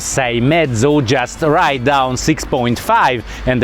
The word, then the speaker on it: Seiemmezzo: half and if you forget it how to pronounce say medso just write down 6.5 and everybody is going